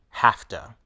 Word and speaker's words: have to: that they blend together we blend have and two together to say hafta we pronounce the two words together as one word hafta I have to work